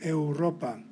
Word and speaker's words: Europa: only pronounce the you the same rule applies to the word europa which of course comes into english as europe the combination